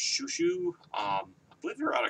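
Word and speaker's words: Xiu Xiu: or something uh x-i-u-x-i-u which i believe is pronounced shushu um i believe you're out of california uh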